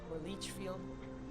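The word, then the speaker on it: Leitchfield: coming towards litfield Kentucky Lee field that's how it's pronounced in Indiana it too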